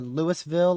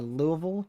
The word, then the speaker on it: Louisville: That new warning was for Louisville or Louisville, depending on which way you pronounce it here in southeastern Illinois.